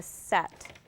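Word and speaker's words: sett: would be okay their borough is called a set and it's spelled c e TT e which I did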